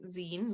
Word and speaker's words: zine: more about scenes uh it is pronounced zine like short for magazine um it's a self-published